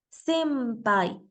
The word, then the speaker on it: senpai: que en el español La n se pronuncia como letra m antes de sonidos como la p o la B ejemplo la palabra senai senpai como la n y la p son un poco difíciles de pronunciar por separado dentro de la misma palabra Los japoneses sustituyen la n por la m y entonces decimos senpai